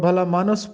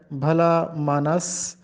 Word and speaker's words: بھلا مانس: جس کو کہتے ہیں۔ عام طور پر ہم اس کو بھلا مانس پڑھتے ہیں، جو کہ غلط ہے۔ درست تلفظ ہے بھلا مانس یا بھلے مانس۔ تو بھلا مانس کا